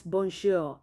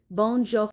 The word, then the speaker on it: bonjour: Many English speakers pronounce bonjour incorrectly. Listen carefully. Not bonjour. Not bonjour. The French sound is softer. Listen again. Bonjour.